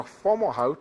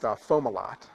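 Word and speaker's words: Fomalhaut: around planets so uh FAL how if no actually it's pronounced fomal lot sorry is a star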